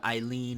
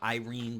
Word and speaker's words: Eileen: the whole stuff with eileene or Irene because there's a couple different translations on how to say the name but pretty much her